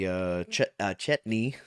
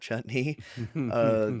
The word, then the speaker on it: Chetney: Laudna says because they discussed that maybe Chetney, not Chutney, he had I the love how I love